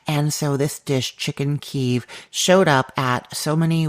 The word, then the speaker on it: Kyiv: I've been teasing you with this chicken keeve recipe for months, I think, at this point, and I'm finally telling you about it today.